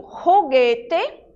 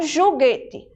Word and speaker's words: juguete: Então, quando eu digo juguete, eu pronuncio o J como se eu estivesse falando o R do português e não juguete, certo?